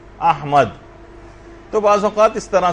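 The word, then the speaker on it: أحمد: یعنی صحیح تلفظ ہے، الف پر زبر ہے، ہا جو ہے وہ ساکن ہے، میم کے اوپر زبر ہے، اور دال جو ہے وہ ساکن، احمد۔ تو بعض اوقات اس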